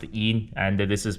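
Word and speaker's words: 阴: This is pronounced yin and this is pronounced yang.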